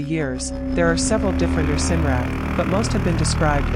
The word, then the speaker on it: Ircinrraaq: Ircinrraaq, pronounced Ircinrraaq, is an Inuit word used when describing any